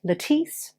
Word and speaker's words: Lettice: life of latisse knowles spelt like this but pronounced latisse an anglicized form of letitia and nols like beyonce